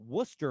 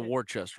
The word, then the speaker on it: Worcester: show uh Stone says Worcester Mass stand up I appreciate you pronouncing it correctly people butcher that that's the Worchester one yeah Worchester um yeah